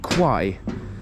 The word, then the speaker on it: Kwai: check out the view here because the river Qui the reason why this place kaburi is famous is right here this is the legendary River Quai or qu as it is pronounced in Thai